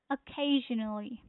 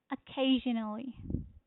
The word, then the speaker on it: occasionally: is on second syllable occasionally in here you see occasionally occasionally. Yeah, occasionally. So the stress is on second syllable.